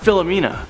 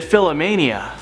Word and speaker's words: Philomena: When Leonardo DiCaprio, the guy who never ages, when he was on stage, he mispronounced Philomena. Instead, he said Philomania.